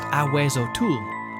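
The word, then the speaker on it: Ahuizotl: According to Aztec legend, the Aizotal, pronounced aweot, lives at the bottom of deep lakes and ponds.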